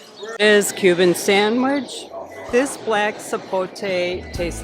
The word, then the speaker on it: sapote: Then also smoothie, the black sapote, is that how you say it?